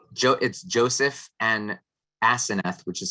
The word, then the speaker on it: Aseneth: It's Joseph and Asenath, which is spelled Aseneth.